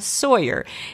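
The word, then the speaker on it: Tsoir: Tatiana Sawyer. It's spelled T-S-O-I-R.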